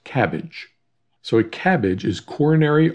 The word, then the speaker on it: CABG: bypass with grafting and we shorten that to cabg pronounced cabbage so a cabbage is